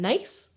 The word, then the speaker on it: Nuys: a place called Van Nuys. So not spelled N-I-S-E, it's spelled N-U-I-S. Oh, okay. Right, your brain is like, nice, Yeah. nice. Nuys. Nuys.